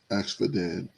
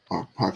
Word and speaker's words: Arpachshad: Axfadad. I'm probably saying that incorrect. Let's see how they pronounce it. Arpachshad.